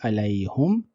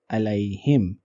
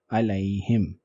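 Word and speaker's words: عليهم: In this case, we are not saying alayhum, but we are saying alayhim. Why? Because hum was preceded by ya sakin, and that is why we are pronouncing it and writing it as alayhim.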